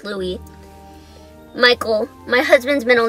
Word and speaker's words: Louis: future son Louie Louie which is spelled Louis but is pronounced Louie Michael my husband's middle